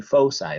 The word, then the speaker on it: foci: as an i but the english pronunciation of the latin plural of focus is foci and so get used